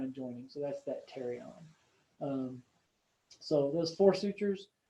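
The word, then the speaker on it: pterion: this region called the terion the p is silent like pterodactyl um it's kind of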